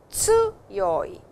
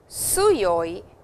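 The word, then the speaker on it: 強い: It is tsuyoi. A small T sound is there, and it is not suyoi, which is an S sound.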